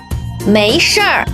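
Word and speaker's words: 没事: comfort people in Chinese make sure May second town means no not fourth town means matter or affair we often pronounced as sure to lighten the town make sure means it's not a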